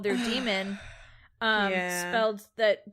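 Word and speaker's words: daemon: is the presence of demons pronounced demon but it's spelled with the that a and a character that are together I don't know what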